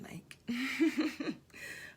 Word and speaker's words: Nike: Fun fact, it's pronounced Nike.